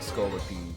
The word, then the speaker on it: Scolipede: Yeah, I pronounce it Scolipede.